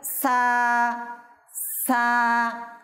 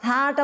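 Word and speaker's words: ث: আমাদের চ্যানেল দর্শক শ্রোতা, আমাদের থাটা উচ্চারণ করার ক্ষেত্রে অনেকেই ভুল করে, থাকে সা পরে, সেটা ভুল পদ্ধতি।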